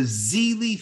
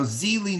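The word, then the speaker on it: Xeelee: published was called the zeli flower now zeely noticed is spelled x-e-e-l-e-e and the zeli flower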